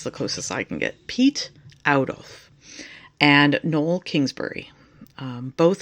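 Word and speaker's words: Piet Oudolf: It's pronounced Pete Audolf. I'm probably still butchering it, but that's the closest I can get. Pete Audolf and Nol Kingsbury.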